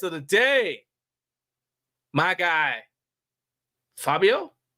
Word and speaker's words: Fabio: growing up well depends it's a Italian name so it's it's a Fabio but you know in in America and Canada it's just Fabio okay look you don't